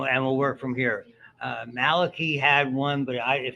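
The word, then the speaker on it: Malachy: friend was a guy named Malaki mccort who pronounced it Malaki and he married a woman who was considerably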